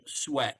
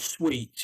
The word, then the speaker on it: sweat: So the pronunciation is sweat. So you don't want to. It's pronounced sweat like that, not sweet.